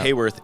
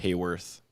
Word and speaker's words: Haworth: this guy like oh Hayworth h a w o r t h yeah so like hallworth yeah I don't know why it's pronounced Hayworth I think it's cuz it's their name yeah a lot of